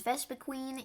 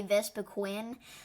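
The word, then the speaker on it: Vespiquen: up is vesa queen and I know some people say VES Quin but honestly I'm I'm just going to say it that is not the right way to pronounce it there is Queen in the name I don't understand why some people say vesa Quinn but yeah anyways besides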